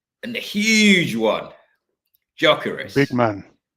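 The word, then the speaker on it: Gyökeres: the huge one, Big Jokeres. man. Or sometimes I think the pronunciation is Jokeres, apparently not Jokery, so you don't pronounce the G.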